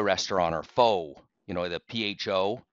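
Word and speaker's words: pho: and it's a a fur restaurant or Foe you know the pH I believe it's pronounced fur and and it said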